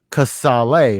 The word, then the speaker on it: Casale: as you told me, the right way to pronounce it is actually Casale, right? Casale, yes. Right. But not many people have realized that with the E at the end, so it's just Casale.